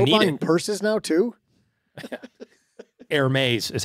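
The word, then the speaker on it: Hermès: Hermes is how you say that. Hermes.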